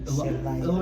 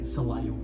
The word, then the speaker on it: Celayo: ¿Cómo pronuncias tu nombre para los que están? Celayo. Celayo, ajá. Así como tipo Wood es Celayo. Celayo.